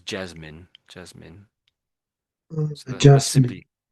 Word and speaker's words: Jasmine: So you said Jazz Mine, which is how it looks, but it's most people say it as Jasmine.